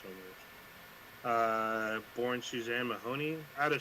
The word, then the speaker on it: Somers: Uh, we're gonna start out with Suzanne Summers or Somers. I believe it's pronounced Somers.